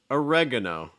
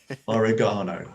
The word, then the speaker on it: oregano: let me know um oh oregano no that's just so wrong i know i'm sorry oregano oregano um uh cilantro